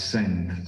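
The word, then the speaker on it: Cend: company that is called cent therapeutics and send of course is because of this cn rule of european engagement and it's pronounced as sent so we and this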